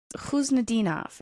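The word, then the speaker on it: Khusnutdinov: The way his name's being pronounced is different than how you said he told you it's pronounced, isn't it? He told me it's Huznadinov, and they call him Huzi.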